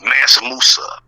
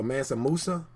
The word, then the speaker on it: Mansa Musa: about but they never go back to like Mansa Musa what I'm saying this real history of us massimosa Nancy Musa spell that m a n s a and Musa is m-u-s-a so Mansa Musa so uh Mansa Musa is like a mountain